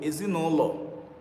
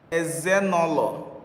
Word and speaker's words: Ezinụlọ: Ezinụlọ. Ezinụlọ. Okay, if I should pronounce what you write here now is Ezenolo. Ezenolo. Ezenolo.